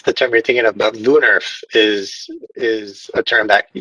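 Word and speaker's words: woonerf: time you're thinking about lunarf is is a term that typically refers to the style of street design and that's w-o-o-n-e-r-f we're pronounced with a v at the beginning and then in terms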